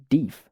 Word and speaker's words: thief: are you thief boy the old man pronounced it deef if the narrator is going